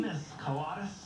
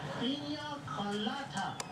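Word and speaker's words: piña colada: penis coladas. Woof, woof. He's pronounced Pina Colada.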